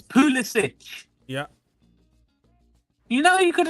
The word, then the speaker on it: Pulisic: The Americans say it with the hard C, Pulisic. No, Yeah, it's Pulisic.